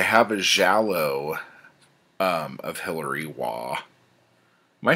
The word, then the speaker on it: Waugh: a Giallo of Hillary Waugh. Am I saying that right, babe? Mm-hmm. Wah. Who is it? Wah. How do you say wah? Wah. W-A-U-G-H.